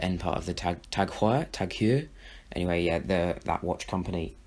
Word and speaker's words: TAG Heuer: Tag Heuer.